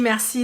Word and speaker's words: merci: Here I do like the merci that Krating says. Merci. He did pronounce the R, which not a lot of people have.